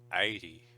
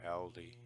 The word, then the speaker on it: Aldi: So she's almost pronouncing that with a Y, like 80 instead of Aldi.